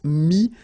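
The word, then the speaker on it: mis: Mi, same advice here, don't pronounce the final S like we had here.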